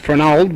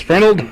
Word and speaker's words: Fernald: He's I think I always pronounce that Fernald, but it's Fernald.